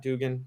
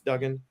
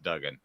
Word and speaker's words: Duggan: and Max is it Duggan is how you pronounce his name right not Dugan It's Duggan I think yes Duggan that's where the Bryce young and Max Duggan